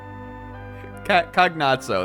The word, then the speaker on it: Cagnazzo: Cagnazzo, that's how I pronounce it.